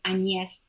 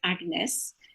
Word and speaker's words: AnYes: am technically french um my first name although you don't spell it like that is anies in french not agnes but both my parents